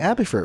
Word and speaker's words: Abathur: and today we're playing abby for which rhymes with patinator and that's why i